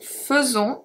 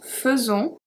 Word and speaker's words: faisons: We have je fais, tu fais, il fait, elle fait, on fait, nous faisons, irregular pronunciation, nous faisons, vous faites, ils font, elles font.